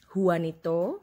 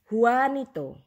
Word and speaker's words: Juanito: J in other countries, they are different. Sometimes pronounce H, sometimes pronounce Y.